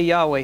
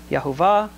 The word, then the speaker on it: Yahweh: Yahweh aad yeh now God's name is pronounced several different ways we just say Yahweh here okay you can pronounce it yve yah yahuah you know yahu some